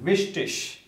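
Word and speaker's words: wichtig: Or this one, vishtish, vishtish. Again, sh sound, vishtish, vishtish. Okay, so here we have seen how to read German.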